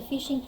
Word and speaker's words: phishing: So phishing, pronounced like the word fishing.